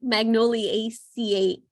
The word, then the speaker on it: Magnoliaceae: And so yes, it's ACE, so the ACEAE at the end. And so before, I did not realize that that's how it was pronounced, and I would pronounce it like Magnoliaceae, or no, sorry, I'm saying it correctly, Magnoliaceae. I think I would say AC, but it's ACE.